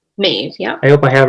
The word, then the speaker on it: Maeve: that 2 of the characters, and I'll probably mispronounce her name. Is it Maeve? Maeve, yeah.